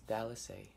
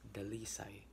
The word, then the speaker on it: Dalisai: So, my mom's name is Dallas A. I mean, it's pronounced as Dallas A because it's Americanized. So it actually pronounced as Delisai, but you know, Dalisai is much easier to pronounce it.